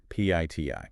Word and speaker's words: PITI: PITI. It sounds exactly like pity, which is frankly what I feel for my checking account right now.